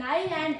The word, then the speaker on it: island: In island, S is completely silent.